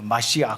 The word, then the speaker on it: 메시아: 여러분 그리스도는 누구입니까 여러분 히브리어로 그리스도를 메시아 뭐 이렇게 얘기하고 마시아 뭐 이렇게 원어에 더 가까운 발음은 그렇습니다 하나님의 일을 하는 하나님의 종